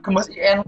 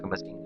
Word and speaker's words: Gemes Ink: Itu bacanya tuh Gemes Ing apa? Gemes INK atau gimana tuh Pak? Gemes Ing. Gemes Ing. Iya Bapak. Nah, soalnya kalau Ing helm itu saya bacanya INK itu. Oh, itu beda Bapak. Oh, beda. Itu udah beda konteks lagi.